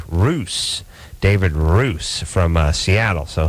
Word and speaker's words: Russ: or I should say Roos, David Roos from Seattle. So he'll be coming in here as well. How does he spell his last name? Well, he spells it R-U-S-S, but it's pronounced Roos.